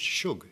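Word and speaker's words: Shug: that's the best way I think it's pronounced Suge actually yeah sorry but so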